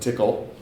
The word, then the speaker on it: Tcl: the TCL scripting language I found out that you can pronounce it tickle that was an interesting